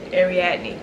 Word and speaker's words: Ariadne: So okay, I looked up how to pronounce this last night. Let me see if I remember it. Okay, Ariadne.